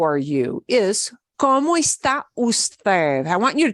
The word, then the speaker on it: está: Whenever you see a little accent mark in my files, it means you punch that sound a little bit harder than the other syllables. So, ¿cómo está?